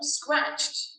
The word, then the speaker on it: scratched: The word scratched has 9 letters, but only 1 syllable.